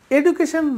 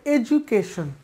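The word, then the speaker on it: education: তোমার এডুকেশন নেই, আমার এডুকেশন নেই, এডুকেশন না, এটা হবে এডুকেশন, এডুকেশন, দিয়ের উচ্চারণ হবে জ, এডুকেশন, এডুকেশন, এডুকেশনাল ম্যাটার।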